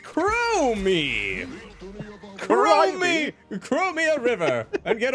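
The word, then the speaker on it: Chromie: late game stolen crime crime it's pronounced crow me krummy chromia river and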